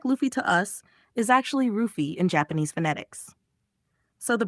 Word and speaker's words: Luffy: So yeah, it's basically ruffy, not Luffy. Japanese doesn't naturally use an L sound. So foreign L becomes R. So what sounds like Luffy to us is actually rufi in Japanese phonetics.